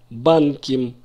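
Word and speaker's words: בנקים: Я беру слово «банк» и во множественном числе, как сказать «банки», «банким» с ударением не на окончании, «банким».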